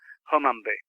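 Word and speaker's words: Hunmanby: tell us about that I can tell you that you've pronounced it right it's h-u-n-m-a-n-b-y homambi however in its ancient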